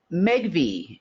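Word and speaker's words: Megvii: couple of days um megi if you've never heard of megi um it's spelled m GV II they're a large AI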